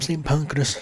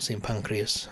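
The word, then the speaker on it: St Pancras: the tunnel uh it goes from St panas station not see pancreas as Charlotte pointed out was mispronouncing it but yeah yeah you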